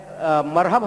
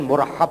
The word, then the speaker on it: مرحب: اپنا تعارف۔ میں مرحب ہم کہتے ہیں لیکن اس کا صحیح تلفظ جو ہے پروننسیشن مرحب ہے۔ تو اس نے کہا